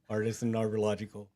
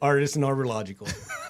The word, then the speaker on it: Artisan Arborlogical: It looks like artesian. It's spelled the same. Okay. Maybe that's why it's throwing me off. So say it for us real quick. Artisan Arborlogical. That. The logical choice.